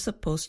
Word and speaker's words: supposed: 3:30 but it didn't here a two syllable word supposed becomes more like one syllable exposed I'm